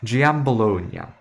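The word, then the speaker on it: Giambologna: Je Bolognia or easier for the Italians to pronounce Gambalonia.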